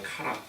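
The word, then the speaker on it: χαρά: 여러분 여기 본문에 나오는 희락이라는 단어를 헬라어로는 카라라고 읽어요. 카라.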